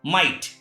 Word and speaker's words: might: If at the last of any word GH or GHT is found, in that condition GH is silent.